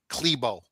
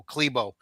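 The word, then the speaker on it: Klæbo: Johannes Hosla Klebo. That's how you say his name even though it's spelled C K L A E B O Klebo.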